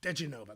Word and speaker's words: diGenova: diGenova, that's how you say it.